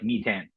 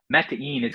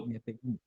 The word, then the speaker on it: Metain: But so the name looks like Metan, right? Like in English, right? But Metain is how we pronounce it because it's Meta Data Invest, Meta Invest, right?